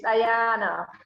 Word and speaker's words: Ayanna: very much and welcome Ayanna welcome are we pronouncing your name correctly yes you did it's Ayana okay could you just start off by hello